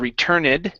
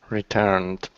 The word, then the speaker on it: returned: though okay right here this is an ed ending instead of returned okay the E is not pronounced the word is returned returned okay very nice um